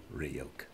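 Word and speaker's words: Ryuk: those of the death notes demon react it's pronounced ryok ah okay okay puke well we have as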